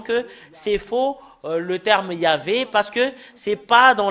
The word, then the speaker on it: Yahvah: nous voyons dans le chef de juif c'est yava et ça prouve très bien que voilà la